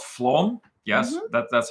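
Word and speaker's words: Flåm: think it was in um a place called Flom yes that that's how they pronounce it FL and um we took a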